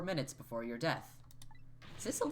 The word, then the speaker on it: Sissel: Sissel does rhyme with Missile.